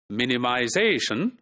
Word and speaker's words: minimization: So in this word, minimization, so ze, which is the second last syllable, that's the primarily stressed syllable. And the first syllable, men, that is where the secondary stress is put, right?